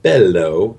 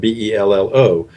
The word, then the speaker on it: Bello: was Bello Romance Photography, pronounced Bello, and it's spelled Bello.